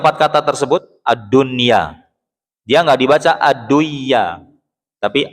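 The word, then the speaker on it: الدنيا: Ad-dunya, satu kata tuh. Bukan ad-dun ya. Nah, bukan. Kalau kayak gitu berarti 2 kata.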